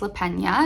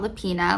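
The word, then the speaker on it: Lapena: I went to an author event with her and I actually learned her name is pronounced Le Pena, not Lepina like I always thought, but I guess she is married to a Spanish man.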